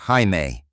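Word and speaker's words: Jaime: A local student called him Siame pronounced Haime, the Portuguese equivalent.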